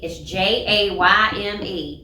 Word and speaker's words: Jayme: Well, how many times I've got my name mispronounced, and it's Jayme. It's very phonetic. Yeah, I How mean, can you mess that up?